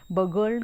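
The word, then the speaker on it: burgled: है, देखें यहाँ पर आर जो है साइलेंट है, बर्गल्ड कहा जाएगा इसको।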